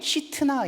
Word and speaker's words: 싯나: 신나로 화법 만들어서 대적하고네 원래이 신나라고 하는 말이 히브리어 발음이 시트나 있니다 시트나 여기에서 사타나 사탄이 나옵니다